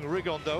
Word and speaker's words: Rigondeaux: And Tete's talked about fighting Rigondeaux, or as he's correctly pronounced with the Spanish accent, Rigondeaux.